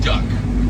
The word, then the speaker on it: DUKW: This is called a duck. How would you spell duck? D-U-C-K, right? Nope. This is the Army. It's the way they work. Everything's an acronym with the Army. It is spelled D-U-K-W.